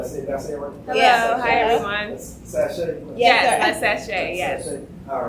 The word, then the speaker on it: Sashe: Yes, Sashe, yes.